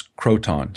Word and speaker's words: Croton: Milo and I think the way you pronounce the city was Croton c-r-o-t-o-n is the name of